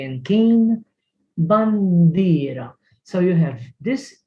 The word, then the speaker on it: tin: To in tin. It's not pronounced tin. If it had to be tin, it would be T-I-N-N. Tin. But we say it teen.